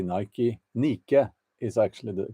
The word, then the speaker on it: Nike: Nike um Nike why do I say Nike nicke is actually the correct pronunciation but anyway American Nike Nike um so they had this uh man